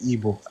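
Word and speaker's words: Igbo: trying to say was correct pronunciation of Ebo is IBO and that is how we say no. Ask any person you would say EO. I'm like how? No. I'm not I don't I don't do the IBO thing cuz you guys and the IBO thing is not how we pronounce it.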